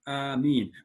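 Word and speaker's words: آمين: Okay, its pronunciation is with a long alif due to the mud, and I'll show you that.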